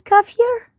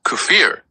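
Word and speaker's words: kefir: So the name is Kafir. It's pronounced Kufir spelled K E F I R and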